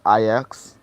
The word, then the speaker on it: Ajax: I like Jax. Or Ajax. That's the right pronunciation for it.